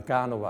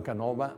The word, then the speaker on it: Canova: una certa importanza forse, si firma Antonio Canova con l'accento sdrucciolo. Il cambiamento di accento da Canova a Canova avrà un significato forse